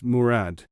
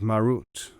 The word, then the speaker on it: Murad: northeastern mountains you know that's the way they pronounce murad i don't suppose they have ever heard of marut wrote me he started